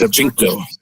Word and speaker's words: Shevchenko: We are, of course, referring to Valentina Shevchenko. Did I pronounce that? Shevchenko.